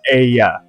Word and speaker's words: Aya: I know you pronounce it based on the letters correct, but it's Aya.